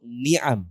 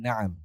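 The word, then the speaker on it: نَعَم: Bi an yahdi Allahu bika rajulan wahidan khairun laka min humurin na'am atau ni'am, macam-macam orang bacanya. Tapi yang betul min humurin na'am.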